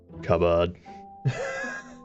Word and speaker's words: cupboard: it's it's pronounced yes it's pronounced um it's pronounced more like that cupboard for me at least anyway it's a cubb